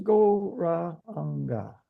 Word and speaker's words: Gauranga: Gauranga will be divided into 4 syllables, Gauranga.